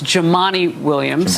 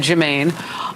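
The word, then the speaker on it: Jumaane Williams: It's Jamani Williams. I said Jermaine. Uh not a, you know, it's spelled that way, but Jamani Williams.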